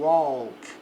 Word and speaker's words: walk: Geralmente o AL, o A ele tem mais som de O, então fica o walk.